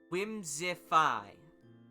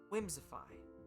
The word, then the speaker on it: Whimsiphae: Whimsify. That's how it's pronounced. But it's spelled Whimsiphae. Whimsify.